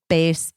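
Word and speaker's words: BÉIS: it all while also looking Chic guess what Bas is for you BAS it's spelled be i s bass was created by actress sheay Mitchell to make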